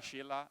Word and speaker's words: Scylla: And we turned this weird pronunciation of ScyllaDB into a benefit because we let our customers pronounce it, and if they run in Scylla in production, whatever they pronounce it, it's good enough. It's Scylla, Sheila, etc.